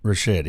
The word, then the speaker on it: Ricchetti: Ricchetti, that's right. Steve Ricchetti, Mike Dolan, Anita Dunn, who effectively controlled the presidency Wow.